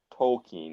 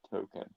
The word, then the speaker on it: Tolkien: The Tolkien one. I thought you said token, Nope.